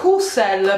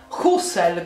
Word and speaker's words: Hussel: Comunque il mio cognome si pronuncia Hussel perché è un cognome di origine tedesca, austriaca, ma quindi la lingua è il tedesco, e si pronuncia Hussel con la H e la S sorda. Hussel.